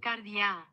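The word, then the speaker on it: καρδιά: el griego de hoy se dice así escúchelo cardia cardia cardia en el griego de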